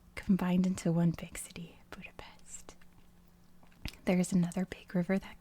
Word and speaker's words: Budapest: city of Budapest, and yes, I know, it's pronounced Budapest. Don't come for me in the comments. I do know this. I just try to stick to American pronunciation since I'm American, and it just makes things a lot easier in terms of like all the other countries around the world. So I know it's pronounced Budapest, but in America we say Budapest. Not sure why. It's like a Paris, Paris kind of thing, you know.